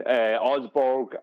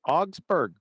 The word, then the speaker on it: Augsburg: I've heard of talk about how that the bombs that they dropped in Augsburg and that in Germany, that they were these fire bombs, that they were basically the same as what happened.